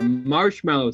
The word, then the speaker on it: marshmallow: Wait, let's gather around the campfire and sing our marshmallow song. M-A-R-S-H-E-M-A-L-L-O-W. Okay. That was bad. I'll shut the fuck up now. You even pronounced marshmallow wrong. What? There's no E in it. It's not marshmallow. Marshmallow.